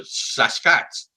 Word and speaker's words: Sasquatch: The best way to think of it is take the word basket, drop the B, and add SAS to it.